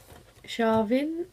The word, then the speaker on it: Samhain: And then the next one, the very digital pattern heavy, is the Primitive Hare Shavin, or it's spelled samhain, and this is just